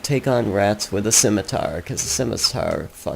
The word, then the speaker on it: Scimitar: on rats with a scimitar cuz simitar sucks and yes I pronounce it Scimitar people say like skiar or skiar they botch it that's what I'm trying